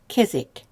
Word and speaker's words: kezek: More than one hand is kezek. So the E shortens from E to E, and the Z then comes on to the second syllable.